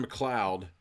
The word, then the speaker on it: MacLeod: artist so it's Kevin MacLeod that's hope I'm saying it right MC le OD kind of like Connor MacLeod of the clan MacLeod if anybody knows what